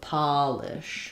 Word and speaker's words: polish: So the only difference really is that first vowel. Spelling is no different except for the uppercase letter. Think about using a matching word like go Polish and not polish, ah and O to help you with that.